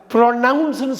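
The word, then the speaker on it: pronounce: பாருங்கள், ப்ரொனவுன்ஸ்னு சொல்லலாம்.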